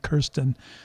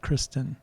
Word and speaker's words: Kirsten: It's actually Kirsten, not Kristen.